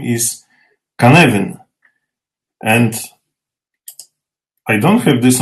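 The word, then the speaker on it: Cynefin: come to you that this is an unusual pronunciation of this word word but so the word canavan is a Welsh word and it means a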